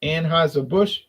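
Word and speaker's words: Anheuser-Busch: flavor B beverage yeah I said it right anhis a bush makes Southern Comfort flavored Malt Beverages there's the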